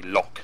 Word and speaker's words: LOC: Of course you pronounce it as a lock, something you would lock.